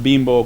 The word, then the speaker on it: Bimbo: main issue was say bimbo right how to pronounce it although the logo is with an i we say pronounce it like if it was double e okay well that's one